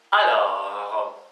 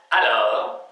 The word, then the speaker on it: alors: По-французски слово тогда будет alors, alors, alors, alors, alors, alors. Тогда мы всегда можем начинать говорить этого на письме, в письменной речи, в устной речи тоже. Alors, в разных ситуациях.